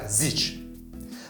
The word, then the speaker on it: Зич: Зич (Density, Tightness) the closeness of this or that object or phenomenon is called density or tightness.